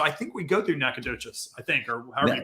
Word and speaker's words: Natchitoches: So I think we go through Natchitoches, I think, or however you pronounce it. Natchitoches, yeah.